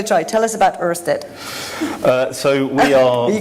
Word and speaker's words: Ørsted: Well, you can pronounce it Ørsted. Now, if I do that, my Danish colleagues will tell me it's wrong, and I can do